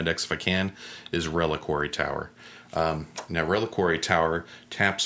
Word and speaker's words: Reliquary: card out loud and um uh the the pronunciation and i i i said it really really tower reliquary um but it's reliquary right yeah yeah but this is a great